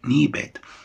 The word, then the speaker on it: knee pad: knee pad هنا الكي لا تنطق knee pad.